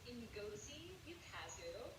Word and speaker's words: Ngozi Ukazu: Nagazi Yukazu. Hold on, wait, I'm gonna look this up, hold on. Is Ngozi Ukazu. Ngozi Ukazu, that's her name, Ngozi Ukazu.